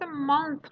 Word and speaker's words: month: تلفظ month رو دارید با تلفظ mouth قاطی میکنید. month میشه ماه، mouth میشه دهن.